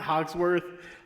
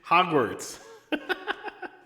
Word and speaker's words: Hogwarts: say i can't remember how to say the word hogwarts not hogsworth hogwarts you're right yamas i was